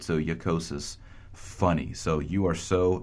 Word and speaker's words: jocosus: In medieval Latin, you're going to see that as a J, but it's pronounced more like a Y, right? So jocosus, funny.